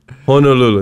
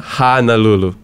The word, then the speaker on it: Honolulu: You know, what does Santa Claus say? Ho, ho, ho. Mm. You know, ho. He doesn't say ha, ha, ha. You know? Honolulu, not Honolulu.